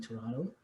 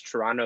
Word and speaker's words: Toronto: might just add that when you pronounce toronto you actually dropped the second t like most people from toronto do which is which is